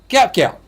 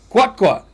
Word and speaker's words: Gout: u t gout gout well that's not entirely how you say it JT that's how how do you how do you say itat guat guat yeah just throw a w in there got got what it